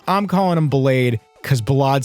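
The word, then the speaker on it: Ballade: name multiple times, and apparently Balad is like technically how it should be said. But a lot of people are calling him Blade. I'm calling him Blade because Balad sounds pretentious.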